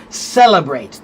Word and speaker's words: celebrate: Celebrate, the first syllable is stressed, right?